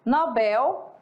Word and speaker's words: Nobel: e tio tá então se você pronunciar por exemplo é Nobel Tá ok É tá certo porque é oxítona não é Nobel né